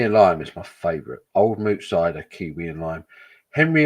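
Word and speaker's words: Old Mout: didn't realize it was pronounced old moot until uh I came across a wooden display that told you how to say it and then it said old moo pronounced incorrectly since 19 blah blah blah it's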